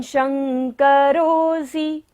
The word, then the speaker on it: शंकरोऽसि: त्वं, त्वं शंकरोऽसि, तालव्य श है, तालु से हमें उच्चारण करना है।